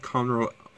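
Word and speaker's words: Conroe: again you know the drill what is this pronounced so yeah which processor are we get it if you say if you said Conroy Conroy L before this was popping up you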